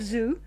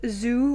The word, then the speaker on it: Zhou: The last Chang ruler would be replaced by a vassel called Woo of Zoo in 1122 B.CE or you know thereabouts. Yeah, I think that's pronounced the Joe dynasty.